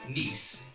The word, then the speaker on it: Nice: See, the word is properly pronounced Nice, as in Pete Green's Nice biscuits.